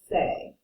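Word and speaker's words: c'est: this on the bottom c apostrophe e f t means it it is or it's and we pronounce it say okay so if you're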